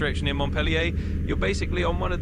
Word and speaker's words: Montpellier: In the US, we do take Montpellier for the capital of Vermont, and it's basically the American English pronunciation of the same name. In France, it's Montpellier with more of a French twist on the pronunciation, and it's a city